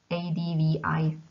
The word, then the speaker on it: advice: The first one is spelled advice, and we pronounce s in the end, advice, and it is a noun and means rada in Czech.